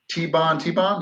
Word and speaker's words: Tibon Tibon: What can you tell us about the Warrior Tibon Tibon? Am I pronouncing that correctly?